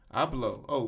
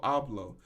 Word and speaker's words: Abloh: print this uh say say it with me i blow oh virgil abloh okay prolific fashion designer virgil abloh dies at 41.